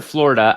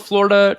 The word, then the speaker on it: Florida: It's not Florida. There's a UH on the end of that instead of an A.